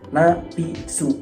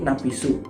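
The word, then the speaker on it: ナピス: Napisu. Jadi dibacanya itu bukan napis, akan tetapi napisu.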